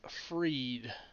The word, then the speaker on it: Fried: Dubron, Max Fried. It looks like fried, sir. It's pronounced Fried, I promise you.